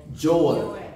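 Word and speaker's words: Joel: 조엘.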